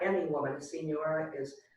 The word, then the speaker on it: señora: It has the NY sound on senora.